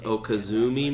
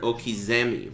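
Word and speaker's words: okizeme: flavor bomb what does Oh kazumi mean well I get asked that wha I guess it's fair Oh Kazumi is a mispronunciation of the word Okies Emmy which it means wake-ups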